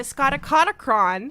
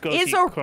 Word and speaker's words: Scotichronicon: The Scoticonocron, The Chronicon. something I learned today, is a Scotichronicon.